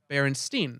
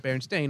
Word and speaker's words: Berenstain: And the Berenstain Bears, the issue here is people think that it's spelled Berenstain, as in with an E instead of Berenstain, with an A.